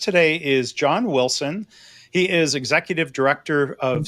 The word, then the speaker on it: Willson: It's pronounced Wilson with two L's.